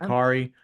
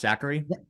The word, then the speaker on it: Sakkari: It's pronounced Zachary. My Yeah, bad. that's not Zachary.